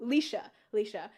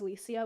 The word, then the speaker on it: Licia: Ooh, Leisha. I know a lot of people look at it and pronounce it as Licia, which is so valid. That is partially because, like, it's a shortened version of Felicia, which I feel like seeing it in Felicia, it makes it easier to pronounce it properly, but I can definitely see why just on its own it looks like Licia.